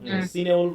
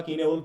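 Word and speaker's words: Cynewulf: তাই তো, সিনেউলফ বা কিনেউলফ বিভিন্নভাবে এর উচ্চারণটা করা হয়, তা কিনেউলফই বলবা তোমরা।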